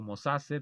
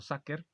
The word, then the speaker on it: sacer: se escribe homo sacer yo lo pronunció como lo veo escrito mosase pero creo que se pronuncia homo saker cuando uno Lee en